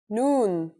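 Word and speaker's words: نون: in arabic that's noon the noon is pronounced just like the english n pretty easy right it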